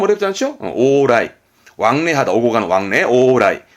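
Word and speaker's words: 往来: 발음 어렵지 않죠? 오라이.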